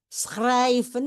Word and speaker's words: schrijven: Schrijven ini agak sulit diucapkan. Schrijven ini saya agak sedikit exaggerating ya, terlalu berlebihan, tapi untuk mengatakan bahwa bunyinya keluar dari tenggorokan.